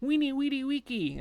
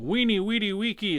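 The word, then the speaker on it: veni vidi vici: i see the little caesar in night and uh night in the museum saying weenie weedy weekie i mean that makes sense but but the big bold season going weeny weedy wiki it's like yeah you get the idea it's always a w uh and you have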